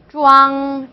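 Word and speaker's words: zhuang: 여기다가 우왕을 붙여서 주왕이라고 하시면 돼요. 주왕.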